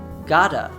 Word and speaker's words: gotta: Now, this is different than what we saw before with buttons, because the T begins the second syllable. In buttons, it comes at the end of the first syllable, which is why we get a glottal T in that instance and not an American T.